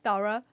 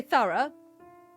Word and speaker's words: thorough: weird to me thorough because we say thorough and you say thorough which doesn't make any sense I mean thorough doesn't really make much sense either but but it's like it rhymes with Barra right would you say burrow thara you know